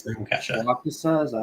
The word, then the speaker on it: Waukesha: Waukesha, is that how you say it?